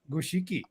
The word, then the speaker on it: Goshiki: Do they call it Goshki or Goshiki? I think it's pronounced if you make the Japanese translation say it says Goshiki.